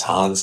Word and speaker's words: Hans: You know, I knew the names, you know, the Germans, like this Hans, and it rhymes with Franz.